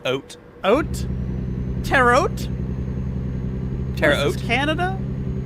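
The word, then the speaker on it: haute: Actually they don't even pronounce the h. It's just oat.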